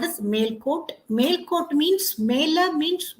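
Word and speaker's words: Melukote: happened has occurred in male court nowadays you pronounce it as melucote originally it should be called as male coat male coat means Mela means West Court means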